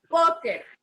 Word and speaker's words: póker: Póker. ¿A dónde llevará el acento póker? En po. Póker. Oh, Exacto, es una palabra grave y lleva el acento en po.